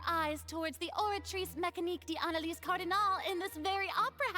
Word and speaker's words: d'Analyse: Sorry, I don't like how she said d'analyse. It's Oratrice Mécanique d'Analyse Cardinal. You don't pronounce that second A.